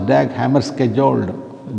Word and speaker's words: Dag Hammarskjöld: He is called as Dag Hammarskjöld. That is the literal pronunciation.